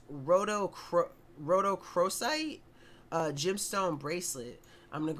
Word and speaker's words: Rhodochrosite: Rhodochrosite, let's go.